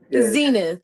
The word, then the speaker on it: Zenith: Zenith, Zenith, like the Zenith. TV.